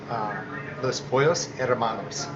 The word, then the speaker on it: Los Pollos Hermanos: How do you pronounce it? So it's Los Pollos Hermanos, Which means the Chicken Brothers.